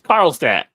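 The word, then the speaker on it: Carlstadt: went in so now how would they pronounce that town name in New Jersey carlat I'm from New Jersey how so what you what you asking me there it's carlat isn't there an accent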